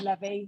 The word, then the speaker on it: Levi: Important for everyone to not recognise him with the jeans brand, in that it is Levi, rhymes with heavy.